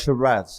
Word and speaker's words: Sheeraz: I want to get the pronunciation of your surname right. Yep. Sheeraz, is correct?